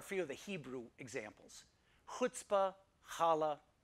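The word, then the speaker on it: chutzpah: to us from Hebrew now these words are pronounced with this sound uh uh with this kind of friction noise coming from the back of your mouth it's similar to the huh sound in Baja if you speak German but of course because most English speakers can't pronounce this sound they just kind of substitute an H sound a huh sound so here are a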